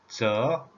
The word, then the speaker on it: 乛: The pronunciation tone number 2, 저, just like this.